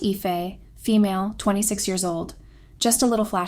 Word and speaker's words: Aoife: So I am Aoife, pronounced Ife, female, 26 years old.